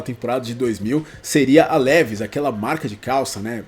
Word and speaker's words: Levi's: E existe uma lenda de que quem iria patrocinar a Bimota naquela temporada de 2000 seria a Levi's, aquela marca de calça, né? Eu acho que se pronuncia assim, Levi's.